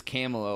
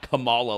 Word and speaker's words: Kamala: Because it's Kamala like Pamela. It's not Kamala like the wrestler.